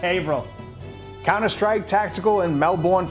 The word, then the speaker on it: Haverhill: firearms in Blue Springs Missouri battlegrounds coffee in Haverhill Massachusetts but seriously it's pronounced Averell con astride tactical in melbourne florida veteran-owned hugger-mugger